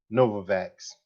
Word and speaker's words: Novavax: uh stocks uh particularly um mcdermott and uh novavex is it nova fx let me check the name and make sure i'm pronouncing that right uh i mean yeah it's uh novavax right i was focusing on those two in